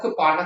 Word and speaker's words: cupboard: Up here, you will notice that we have cupboard, some cupboard notice is not pronounced the way it looks.